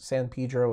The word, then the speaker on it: San Pedro: Albanese sites and yes San Pedro is how they say it in Southern California I know it's ridiculous